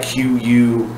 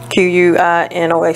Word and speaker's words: quinoa: word, because it's like Q-U-I-N-O-A, something like that. Q-U-I-N-O-A, something like that, right? yes. I would have said quinoa or something like that. It's quinoa, you know. If you haven't tried quinoa out, check it out.